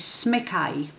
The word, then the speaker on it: Smykaj: So the letter J in Polish is pronounced Y. So his surname, I will put it on a screen. How you pronounce this surname is Smykaj. So the Y is at the end.